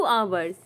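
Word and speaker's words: hours: आप कहें अबाउट तू अवर्स अबाउट तू अवर्स करीब 2 घंटे अबाव तू अवर्स अबाउट तू अवर्स देखिए ह साइलेंट होता है इसलिए प्रनंसीएशन पे भी ध्यान दीजिएगा ठीक है नेक्स्ट है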